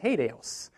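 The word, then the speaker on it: HATEOAS: working with this i i looked up how do you pronounce this in an acronym form you know how many different pronunciations there are out there i have not seen one that has overlapped so i'm calling it hadeos i've done it for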